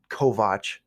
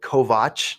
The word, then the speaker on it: Kovach: And you can find me through social media at Kovach Jr. That's it. JONKOVACHJR. And yes, it's spelled Kovach, not Kovich or Kovac.